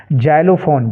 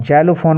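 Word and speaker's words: xylophone: हुआ है एक्स से जाइलोफोन जालो फोन में एक्स का उच्चरण किससे हुआ है ज से तो एक्स का उच्चरण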